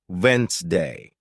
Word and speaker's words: Wednesday: For example, you might see the word Wednesday, and think it's pronounced exactly as it's spelled. But listening teaches you it's actually pronounced Wednesday.